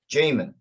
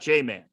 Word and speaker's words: Jaman: great hey hey uh how do you say your name jamin jamin yeah not j-man right okay but you can